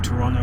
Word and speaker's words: Toronto: here and we're in Toronto and I've started pronouncing it like that now forgotten about the second te um and you know